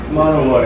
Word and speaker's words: Monowi: I've been calling it Monowi this whole time until we went to this little town. I was like, do you know where Monowi is? She was like, Monowi? And I was like, oh man, I'm so sorry. It gets pronounced lots of different ways. Does it? But Monowi is what. Monowi. It's a Ponca Indian name.